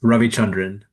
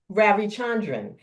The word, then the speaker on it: Ravichandran: It's Ravichandran. Ravichandran.